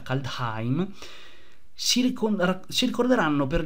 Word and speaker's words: Kaldheim: caldei ma che data si pronuncia calda time si ricorda ci ricorderanno